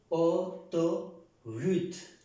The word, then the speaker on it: autoroute: Si esta AU suena O, en esta palabra se pronuncia Autoroute, la autorruta o la autopista.